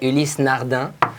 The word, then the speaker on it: Ulysse Nardin: All right, okay, so on this one, so in French we pronounce that Ulysse Nardin.